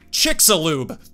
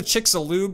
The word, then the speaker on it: Chicxulub: Chicxulub. Was that it? It's either Chicxulub or Chicxulub. Chicxulub. I was expecting an AI voice. That was definitely a real person. That has 784 ratings. Chicxulub.